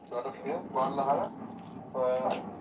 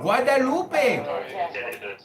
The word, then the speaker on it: Guadalupe: Guadalara. Not Guadalara. I think I'm saying it right. Guadalupe.